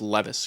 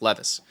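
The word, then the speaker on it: Levi's: of you slban all Lis Lis but it's pronounced Levis okay if if there was if there were two e it'd be Lis but it's one e it's Levis now Mr Danny lemon wants to be banned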